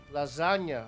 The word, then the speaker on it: lasagna: MCV move from Legend lasagna oh that's a silent G yeah no we have like a soft G like the the sound Legend loses a minor